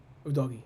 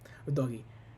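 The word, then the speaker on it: Udogie: deputies for poro and UD DOI OD DOI that's how you pronounce it o DOI because they are they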